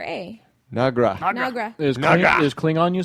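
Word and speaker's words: Noggra: from the same okay your name is nagra pronounce that n o g g r a nagra is is Kling on you saiding on so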